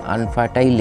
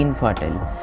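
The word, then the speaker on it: infertile: होने के कारण इनफर्टिलिटी, मतलब इसको हम लोग बोलते हैं अनफर्टाइल एग। सही मतलब प्रोनाउंसिएशन सही जो वर्ड है वो है इनफर्टाइल।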